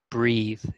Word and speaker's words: breathe: And then one mistake was when we talk about the breath, that's pronounced breath, but then breathe is like a verb, breathing. So there's a difference, breathe and breath.